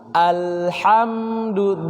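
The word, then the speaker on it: الحمد: Yang perlu diperhatikan juga ini adalah hamzah di awal, hamzah wasl, ya, jelas bacanya karena huruf hamzah ini tipis, dia berada di pada aqsal halq, ya, alhamdu jelas.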